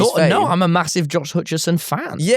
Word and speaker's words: Hutcherson: I um I just I I played Fortnite with Josh Hutchinson of It's Josh Hutcherson. Hutcherson.